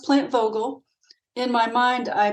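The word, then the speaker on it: Vogtle: In my mind, I pronounce it plant vogal votal because that's how you spell it. It's V O G TL E, but the T is silent. So, it's plant vogal.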